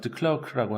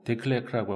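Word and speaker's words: de Klerk: 그랬는데 이제 백인의 마지막 그 대통령이 그 드 클레르라고 하는 대통령, 영어식 발음은 드 클라크라고 하고 데클레크라고 하고 불어식 발음으로 드 클레크라고 발음하는데 그 대통령이 이제 서서히 이런 것들을 아파르테이트를 이제 폐기하고 넬슨 만델라 석방하고 이렇게 되는 거예요.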